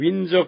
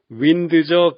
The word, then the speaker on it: Windsor: 영국의 윈저 캐슬에서도 그런 규칙이 드러납니다. 국내에서 윈드저 캐슬이라고 하는 사람은 아무도 없습니다.